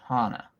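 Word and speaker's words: Jana: The J sounds like an H, so it's Hana.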